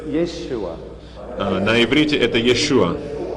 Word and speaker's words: Yeshua: Not Yeshua, but Yeshua. Не Иисус, а But that has Иешуа. dropped out. Но это And пропало. all we in European languages have it without the sh sound.